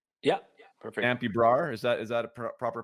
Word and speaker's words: Dampy Brar: Is it Dampy? Yeah, perfect. Dampy Brar, is that a proper pronunciation?